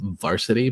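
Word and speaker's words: VRSTY: be playing is from a band called Varsity but they spell it VR St y um they're actually a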